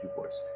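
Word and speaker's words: DuBois: But let's just say they had biology as a major you could graduate from at Du Bois.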